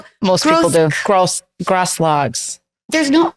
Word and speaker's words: Grosklags: say your name wrong gross gross logs there's no what about the K it it's you just don't say it silent in Jackson the K is silent Jon but it's really